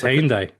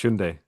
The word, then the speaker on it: Hyundai: to pronounce Hyundai and Hyundai. Uh it's Hyundai. Well, no. Now it's Hundai, isn't it? Yeah. Hundai. It's not. It's Hyundai. I owned one.